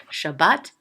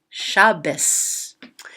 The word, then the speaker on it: Shabbat: tav without a dot, you'll hear some people say it as a T and some people say it as an S. Shabbat, Shabbos.